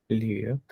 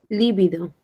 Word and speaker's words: lívido: A ver, ¿esta cómo se pronuncia? Lívido. Lívido.